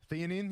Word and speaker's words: theanine: I couldn't even pronounce it. 200 milligrams L-theanine. Am I saying that right? Theanine, yep.